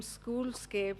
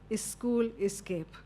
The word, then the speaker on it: SchoolScape: And the name SchoolScape, when you pronounce it very often in Indian languages, we add school escape.